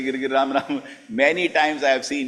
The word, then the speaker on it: Ram: Prabhuji, you are not chanting Ram, you are chanting Nam. Nam Nam Hare Hare. It's Ram Ram Hare Hare Hare Ram.